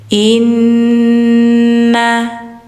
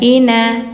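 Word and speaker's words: إنّ: Inna. Jadi enggak ina, tapi inna ila rabbikar Nah, bacanya langsung ke ro ya.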